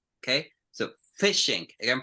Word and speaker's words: phishing: With you have PH, you explode. If you had an F, you close your mouth. Okay, so phishing, again, pronunciation, phishing.